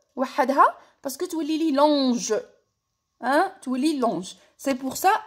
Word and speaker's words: long: دونك كي زدت الاو تاع الفيمينا هاد لو تي وليت ننطقه كور كورت. نروحو نشوفو المثال الزاوج. long avec un T.